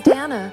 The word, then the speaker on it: Dana: Hi, my name is Danna. Rhymes with banana.